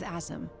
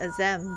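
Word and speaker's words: Azem: I've been calling it a Zam, but Azam.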